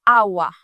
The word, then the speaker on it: hour: Gen un pile lan nou qui souvent dit, aswe m'bral travail 10 hours. Mais non, mot ça li prononce hour.